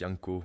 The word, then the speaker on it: Janko: back, Janko, pronounced Yanko.